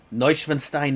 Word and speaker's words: Neuschwanstein: Neuschwanstein is how it's pronounced.